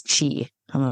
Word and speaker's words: qi: And if you ever play Scrabble, QI is chi.